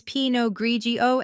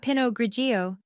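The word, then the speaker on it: pinot grigio: It's pog grigio Emily, not pinogio.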